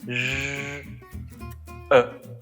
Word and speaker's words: je: Je m'appelle Je se prononce je e. Le je, une prononciation très subtile. Et la lettre E, une prononciation très spéciale en français. Je e e e avec la bouche entrouverte.